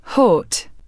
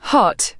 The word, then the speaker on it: hot: The short O in words like hot, pot, and lot is pronounced with rounded lips. British, hot, right pointing arrow, hot. American, hot, right pointing arrow, habit, sounds more like heart.